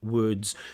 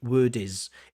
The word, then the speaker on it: words: create a words sound, words. Mhm. You seem to have difficulty doing this, so you add an extra syllable, you add an extra vowel sound. So instead of saying words, you say word is.